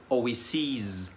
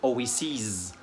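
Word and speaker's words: oases: جمع الكلمة دي بشيل الاي وحط مكانها اي، لكن الجمع هيبقى نطقه مختلف عن oasis، هيبقى oasis. فالاي اللي في الاخر دي هتنطقها طويلة شوية، oasis يعني واحات.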